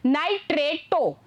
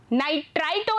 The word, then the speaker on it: nitrato: अगर NO3 minus दिया हुआ है तो वहां आपको यूज करना है नाइट्रेटो, स्पेलिंग इज NITRATO, नाइट्राइटो नहीं, TRI नहीं लेना है, TRA लेना है, दैट इज नाइट्रेटो।